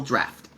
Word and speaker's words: draft: I found two ways to spell draft. D-R-A-F-T and D-R-A-U-G-H-T. And they're both correct, and they're spelled differently, but they're pronounced the same way, draft.